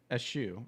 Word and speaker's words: eschew: views as a growth problem, he plans to eschew. I'm going to look up how to pronounce this one, because that's a new one to me. Oh, I can't. Eschew.